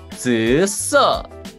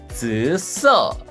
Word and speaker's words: 紫色: There are third accent and first accent. 紫色. 紫色.